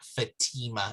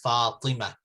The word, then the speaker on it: Fatima: is coming over but it's actually not fatima it's falima so once you start